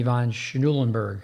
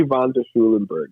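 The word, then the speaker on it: von der Schulenburg: into a question and help me with the pronunciation Henry Von schnuelenberg how do you say that Henry vonder Schulenburg yes uh David Squire sent him to me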